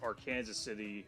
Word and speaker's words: Arkansas City: Arkansas City uh as you'd think but it's AR Kanas City uh pronounced in Kansas and 166 West will split